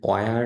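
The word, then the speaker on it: where: তো এই যে চারটা গেল, হোয়াট, ওয়াই, ওয়ার, ওয়েন, এই চারটাতেই এইচ উচ্চারণ আসবে না।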